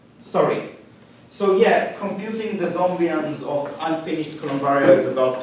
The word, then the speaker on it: zombian: the concepts so uh a zombian should rhyme with well should be something that that people like me might want to compute and it kind of rhymes with uh Hessian bronsky and lagrangian zombie and something